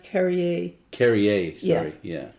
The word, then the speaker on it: Carrier: but it's still it's the most famous rock carrier well if you don't mind it's pronounced carry a carry AIDS yeah yeah it's okay everyone does